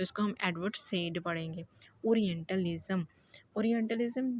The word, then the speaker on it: Said: रखते हैं सैयद को तो हम इनको सैयद बिल्कुल भी नहीं कहेंगे हम इनको सेड के नाम से जानेंगे एडवर्ड सेड तो आज के बाद